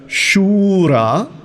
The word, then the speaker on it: शूरा: अत्र शूरा, शू की मात्रा दीर्घ है।